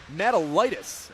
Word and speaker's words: Matalitis: Finding it forward is Connor Matalitis, as his name is pronounced.